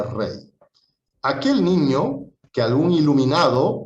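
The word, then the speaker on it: Reye: Se escribe Rey, se pronuncia Rey.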